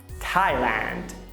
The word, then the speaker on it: Thailand: O que não te disseram é que nem todo TH se pronuncia daquele jeitinho com a língua entre os dentes. Olha só. Thomas, Thames, discotheque, Thailand. Você viu algum aí?